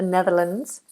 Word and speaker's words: Netherlands: New Zealand New Zealand we also have the Netherlands with an S but it's pronounced as a zed the Netherlands we have Nepal Napal I'm just going